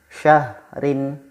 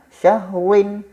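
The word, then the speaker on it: شهرٍ: Syahrin, syahrin, bukan syahwin atau syahruin ya, tapi syahrin.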